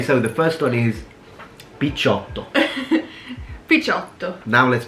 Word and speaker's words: picciotto: Okay, so the first one is picciotto. Picciotto. Now let's pronounce it the proper way. Picciotto.